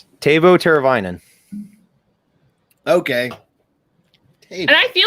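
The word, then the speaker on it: Teräväinen: Teravainen. Yeah, it's just the AI in the middle of the name that throws people off. Who don't know. Because you wouldn't try and say like the I for it.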